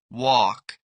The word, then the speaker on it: walk: Walk.